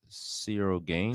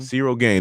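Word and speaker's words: Ciryl Gane: Gagne, whatever. The French dude. Cyril Gain. Cyril Gain.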